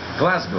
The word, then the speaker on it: Glasgow: the town in Glasgow in Scotland and it's pronounced Glasgow am I losing my I got mind now